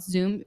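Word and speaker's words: Zum: It's called Zoom. I think it's pronounced Zoom, Z-U-M.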